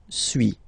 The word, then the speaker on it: suis: So first one, suis, as you've been noticing, you don't pronounce the final S, okay.